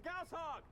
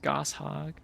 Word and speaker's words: Gauss hog: Oh my god, wait a second, there was an actual voiced line where he pronounces Gauss-hog correctly. All those years of Halo gamers insisting that it was pronounced Goss-hog. I don't know where they got that from. Like, it's a name, it's Gauss, like...